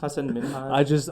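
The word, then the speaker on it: Hasan Minhaj: I was listening to Hassan Minaj had an Indian girlfriend, so now I just have to say his name like that for the rest of my life. Hassan Hassan Minaj. I got corrected by her mom, and now I'll never make the mistake again.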